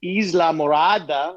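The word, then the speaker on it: Islamorada: I visited a friend down in the Keys, down in Isla Morada. That's how you pronounce it.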